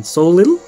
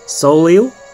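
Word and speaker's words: Soleil: How do you say her name, man? Soliel? Soliel? Yes. Yes, that's her name.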